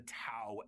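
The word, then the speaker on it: T'au: It's tao as in t au like the Greek letter.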